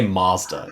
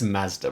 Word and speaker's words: Mazda: But I hate when Americans say Mazda. It's Mazda, bro.